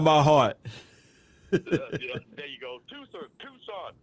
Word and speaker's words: Tucson: Tucson. Because it's spelled T-U-C, don't make it Tucson.